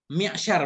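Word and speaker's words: معشار: Mi'syar bacanya.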